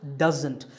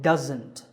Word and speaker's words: doesn't: It's pronounced doesn't. There's a z sound there. It's not an s sound, so doesn't.